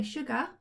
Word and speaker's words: sugar: r at the end so we say sugar so the sound at the end is actually what is an a and an r normally we would write it an e and an r er okay what word's this